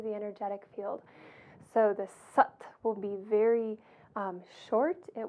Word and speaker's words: Sat: Sat, when pronounced, is more like Sat, S-U-T, so you'll hear that when I demonstrate it.